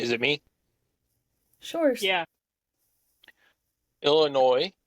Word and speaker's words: Illinois: it me sure yeah Illinois or Illinois yuck don't say it like that it's like is it the S like silent it's just like that letter that doesn't need to be there it's like a what's